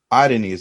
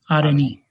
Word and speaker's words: Areni: So, Areni, that's the correct pronunciation. Areni. Yes, Areni.